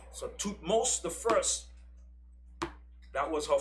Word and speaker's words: Thutmose: And when she found him, she named him after her father, Thutmose the first. And Thutmose is spelled T-H-U-T-M-O-S-E.